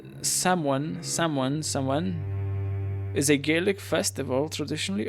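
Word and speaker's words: Samhain: Uh, Sam Hain approximately pronounced Saman is a Gaelic festival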